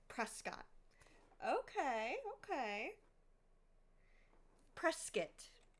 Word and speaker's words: Prescott: Prescuit. Anybody who's outside Arizona would say Prescott. But if you're a native Arizonan, Prescuit.